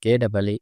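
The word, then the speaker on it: ケ: Ke, Ke, The pronunciation of character K in Japanese is something like the combination of KEH in English.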